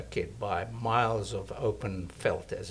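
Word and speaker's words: veld: by miles of open felt as it's called which is land or field um felt felt is an Africans word v l d um which is pronounced felt and it's used both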